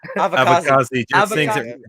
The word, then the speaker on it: Avkasi: Avkasi? Avkasi. Just think it rhymes with kamikaze.